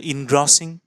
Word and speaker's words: engrossing: अब देखिए, interesting, engrossing और engrossing, जिस तरह से हम इसको उच्चारण करते हैं, तो इसका सही उच्चारण है engrossing.